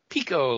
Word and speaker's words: Picco: the first of all how was your last name actually pronounced picot like DT orange pekoe t okay and again